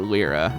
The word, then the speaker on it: Lyra: I pronounce L's name I've always pronounced it Lyra a lot of people I've heard pronounce it lra I don't know why